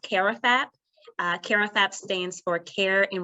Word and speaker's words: CARAFAP: so much for having me so it's actually pronounced karafap karathap stands for care and recreational activities for